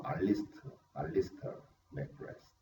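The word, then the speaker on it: Alister McGrath: 알리스트 맥그레스, 제가 엘리스트라고 썼네요. 발음이 뭐 알리스터 맥그레스.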